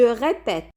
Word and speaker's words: répète: Ici, l'accent aigu va devenir un accent grave et le but toujours est pour ouvrir le E. Je répète, tu répètes, il, elle répète, nous répétons, vous répétez, il, elle répète.